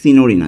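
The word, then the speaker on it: signorina: এরপরে সিনিয়রেনা সিনিয়রিনা উচ্চারণটা কিন্তু এভাবে সিনিয়রিনা আমরা উচ্চারণটা সিনিয়রিনা কিন্তু উচ্চারণটা হবে সিনিয়রিনা অর্থ মিস ওকে তো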